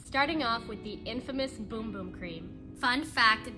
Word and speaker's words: Bum Bum: off with the infamous boom boom cream fun fact this cream is actually pronounced boom boom instead of the popular pronunciation bum bum it's a fast absorbing